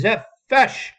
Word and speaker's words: Zepsch: It is pronounced Zepfesh.